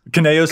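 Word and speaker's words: Kynaios: Is it Kineos? Kaneos and Tiro.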